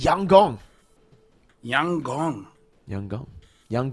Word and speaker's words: Yangon: By the way, Lfell, apparently YG is pronounced Yang Gong.